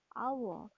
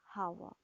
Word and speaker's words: hour: the beginning of our is very so we pronounce it as our not as hawa so we use an in front of our